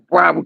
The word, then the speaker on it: Broward: Am I pronouncing that right? Broward or Broward? Broward County.